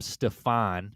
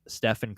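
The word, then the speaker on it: Stephen: reportedly mispronounced Curry's name calling him Stefan instead of Ste steep Stephan Curry so he kept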